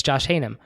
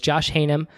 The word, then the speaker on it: Haynam: h-a-y-n-a-m and he says a lot of people say hey man so I almost just introduced you as hey man so it's Josh hanum AKA Josh Heyman and